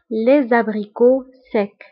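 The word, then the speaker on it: les abricots: والمشمش المجفف فهو لي زابريكو سيك. لي زابريكو سيك. هنا ايضا بالنسبه لي زابريكو كنكتبوها بالتي ولكن لا تنطق لي زابريكو سيك.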